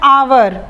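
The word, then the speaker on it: hour: का उच्चारण करते हैं आवर यह एट से लिखा हुआ है तो हम इसे हार नहीं पड़ते हम इसे आवर पड़ते हैं यह एक साइलेंट हो जाता है और यह वतन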